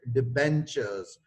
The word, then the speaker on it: debentures: uh here it is tur sound that is uh marked in red this tur sound is sounds like a cheer occurs in cheap and witch so the benchers we pronounce it debentures these are secured uh